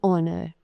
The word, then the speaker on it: honor: Now, some words begin with a silent H, such as an R, an honorable man, an honest person, an honor, right?